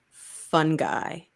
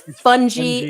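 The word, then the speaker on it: fungi: okay with the pronunciation fun guy he hated he was like it's funy it's not a fun guy he would get so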